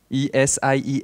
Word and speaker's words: ESIEA: In fact, if you want to tell it correctly, ESIEA. Okay. Yeah, we pronounce all the letters.